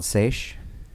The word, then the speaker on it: Seiche: So the album's called Seiche, right? Yes. Am I pronouncing that correctly?